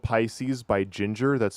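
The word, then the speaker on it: Jinjer: The song is called Pisces by Ginger. That's spelled J I N J E R. Come on. It's pronounced the same, but it's spelled with J's, not G's.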